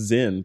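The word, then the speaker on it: Sinn: Product pronounced Zen. Thank you, because I was going to say Sin.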